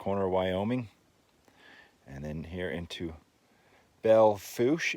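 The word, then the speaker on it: Belle Fourche: and then here into Belle foosh it's pronounced and then we dropped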